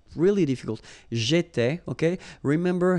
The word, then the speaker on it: j'étais: J'étais, okay? Remember, here we've got accent aigu, so it goes like et, all right? J'étais.